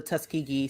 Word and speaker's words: Tuskegee: Tuskegee, you're right. It's Tuskegee. I said it wrong.